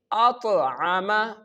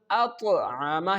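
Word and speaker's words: أطعمهم: The next one is At'ama. At'ama. Here you can see the Ta has sukoon on it. That's why when the Hamza make the connection with the Ta, we perform Qalqalah.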